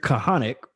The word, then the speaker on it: Kahanek: right so um so my name is kahanek ceo of elite business masters where we come